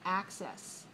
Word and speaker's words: access: And we see that the stress mark is after the first syllable, access.